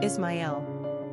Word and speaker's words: Ismael: Number of syllables, 3. Ranking popularity, 400. Pronunciation, Ismael.